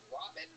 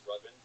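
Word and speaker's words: Ravin: Is it Robin? It's pronounced Rubin. Rubin? But it's spelled R-A-V-I-N? Yeah. So it's spelled Raven. No, the A makes the same sound as the first syllable in amazing.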